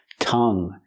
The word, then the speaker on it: tongue: like this one tongue tongue use the short uh sound like cup and up closed TT